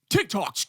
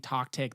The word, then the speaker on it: TikTok: They couldn't even pronounce TikTok. They were saying talk tick. They were saying tic tac.